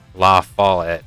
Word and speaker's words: La Follette: La Follette is how you say it.